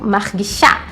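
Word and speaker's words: מרגישה: masculino para o feminino, que é acrescentada a letra rei no final e também uma vogalzinha ali, e ali fica sendo a sílaba mais forte. Então, para as 3 pessoas, a conjugação margishá, margishá.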